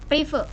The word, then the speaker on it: prive: Berarti yang di debit itu yang kas, yang di kredit itu yang private itu bacanya Kak. Prive.